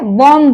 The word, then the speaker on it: bomb: जैसे BOMB, तो एम बी के पहले आया है, वहां पे बॉम्ब बोलेंगे, ब, यानी कि ये बी साइलेंट हो गया।